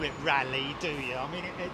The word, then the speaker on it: Raleigh: Bike company but uh it's not Raleigh Bicycles is it it's rally anyway anyway rally is not spelled l r rally bicycles it's spelled r EIG g h no Raleigh in the US in daring Dar is called it's it is spelled r is it not okay okay but okay out